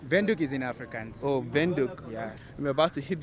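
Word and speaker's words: Windhoek: in namibia just arrived window how do you pronounce it it's vindok no window yeah window vendor is in africans oh benduk yeah we're about to hit the city it's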